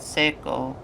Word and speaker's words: Seiko: I've kept quiet about it till now, but the way you pronounce my name kind of bothers me. It's Seiko.